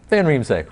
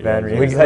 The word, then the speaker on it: van Riemsdyk: Van Riemsdyk. Van Riemsdyk.